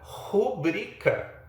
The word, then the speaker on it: rubrica: Algo parecido acontece com a palavra rubrica, que muita gente pronuncia como se fosse proparoxítona.